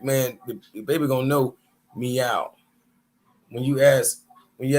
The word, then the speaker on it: Mau: in the back chat the Egyptian word for cat m a u is pronounced meow oh Mewtwo huh and Pokemon the cat characters Mew exactly you know what I mean so meow matter of fact no no no the Pokemon character's name is Mia m-e-o-w but this is Mau is still pronounced meow this is literally how